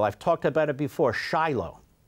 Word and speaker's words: Shiloh: talked about it before Shiloh it's Shilo spelled like Shiloh sheilo where the various Jewish